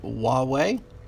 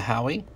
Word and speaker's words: Huawei: we've got a huawei Nexus 6p it is pronounced Huawei but I like to call it the Howie this one is banged up pretty bad it's